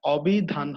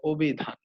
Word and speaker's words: অভিধান: আদ্য এর পরে যেহেতু হ্রস্ব ইকার আছে এজন্য এই এর উচ্চারণটা ও এর মতো হয়ে যাচ্ছে। এটা অভিধান হবে না, এটা হবে অভিধান। খেয়াল করবে, অভিধান হবে না, এটা হচ্ছে অভিধান হবে।